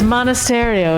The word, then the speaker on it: Monasterio: I also think there's some good names up here, but Monasterio, is that how it's pronounced? Yes. Monasterio. It's like a monastery just with an eye.